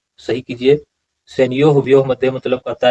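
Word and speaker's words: सेनयोरुभयोर्मध्ये: अब कहते हैं सैन्यो हुभ्यो मध्य, उच्चारण सही कीजिए। सैन्यो हुभ्यो मध्य मतलब कहता है कि सैन्यो मतलब सेना को, और उभयो मतलब दोनों।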